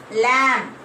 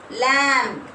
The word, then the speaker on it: lamb: Lamb. What is the silent letter here? Lamb. B. Very good. B is a silent letter.